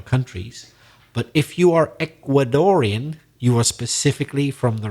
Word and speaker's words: Ecuadorian: R I am Ecuadorian so the stress is on the middle syllable Ecuadorian an Ecuadorian person and as I mentioned